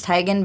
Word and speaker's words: Teigen: - you can say technically she says it's Tigan but she's like completely